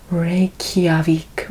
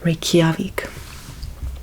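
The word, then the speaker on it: Reykjavík: The correct pronunciation for the capital of Iceland is Reykjavik. Reykjavik.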